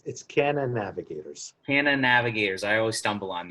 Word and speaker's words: CannaNavigators: How do you pronounce it again? It's CannaNavigators.